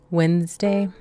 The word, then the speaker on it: Wednesday: Wednesday. Oh, it's not winds like winning. It's like winds like wind. day like windy.